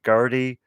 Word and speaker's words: Gerti: frost giants led by gertie uh i think the tape pronounced her name g-e-r-t-i and then you got